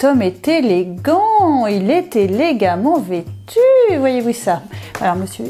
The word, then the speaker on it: élégamment: On devrait prononcer élégamment, mais c'est difficile à dire, hein, essayez chez vous. Donc par facilité, nous prononçons élégamment.